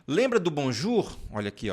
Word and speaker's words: bonjour: o e o u toda vez que você vir essas duas vogais juntas você vai pronunciar u ou seja o nosso u mesmo lembra do Bonjour olha aqui ó Bonjour por isso que nós